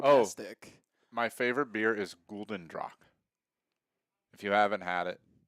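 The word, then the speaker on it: Gulden Draak: My favorite beer is Gulden Drac.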